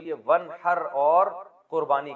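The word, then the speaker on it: وانحر: तो वन असल में था व इन हर पढ़ा जाता है मिला के वन। अलफ़ साइलेंट हो जाता है। वन हर आप नमाज़ पढ़ ये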